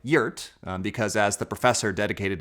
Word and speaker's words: wort: Sweet barley tea, what brewers called wort, spelled like wort, but pronounced like UAT, because as the professor dedicated his life to proving.